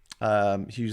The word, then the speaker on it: Hughes: That's what you want, or just G Hughes, because I'm Graham Hughes, and it rhymes with news, and that's a pun that I will never fail of making things of.